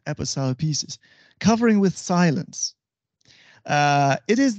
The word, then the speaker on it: aposiopesis: In Greek, it is aposiopesis, and in English, it is aposiopesis.